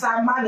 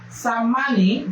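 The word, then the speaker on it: Tsammani: In an over 11-hour verdict being presided over by Justice Haruna Samani, I think the T is silent, Samani, the tribunal has held that the petitioners, former Vice President Atiku Abubakar and Mr.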